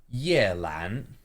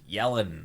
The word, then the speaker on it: Yelan: Yeah, that's probably the worst pronunciation I've heard normally of this one. It's quite Is it different. Like yelling. They just say like yeah, something like that. It's very off.